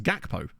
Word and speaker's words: Gakpo: podcast and they were arguing about the pronunciation of Cody gpo's name about how it's supposed to be HAPO but then isn't his name not a Dutch name isn't it believe garan his name so it just seems odd that you would then I guess if you he is Dutch but I I've heard him pronounce his own name as gakpo so I don't know